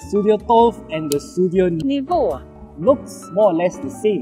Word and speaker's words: Niva: Sudio released, the Sudio Niva. Yes, that is how it is pronounced because I learned it from Google Translate.